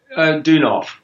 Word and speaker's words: Deunov: How do you pronounce his name? Deunov.